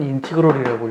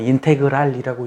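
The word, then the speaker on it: integral: 그러면 이걸 뭐라고 읽냐면 인티그럴이라고 읽어요. 어떤 사람은 인테그랄이라고 읽는 사람도 있고, 이걸 아래 끝, 이걸 위 끝이라고 그래.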